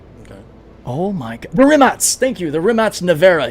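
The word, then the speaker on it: Rimac: It's spelled like Remac, but it's pronounced Rimats like ATS, which is kind of cool.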